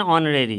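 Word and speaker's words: honorary: उसके बाद his father is dash magistrate, N ऑनरेरी, है ना, सम्मानित, है ना, उसके लिए होता है, मतलब वो टेम्पररी की तरफ आप कहें तो ऑनरेडी, इसका उच्चारण ओ से है इसलिए एन लगेगा।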